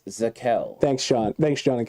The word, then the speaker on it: Zakelj: Zakelj. So, the J is silent. It's okay. It's a It's a soft It's not a soft J. It's a silent J.